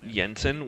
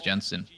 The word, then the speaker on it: Jensen: yes I don't know I heard some Europeans call him Jensen maybe because in their in their language and you know from wherever they're from the J is pronounced that way but I'm like it's Jensen it's like the exact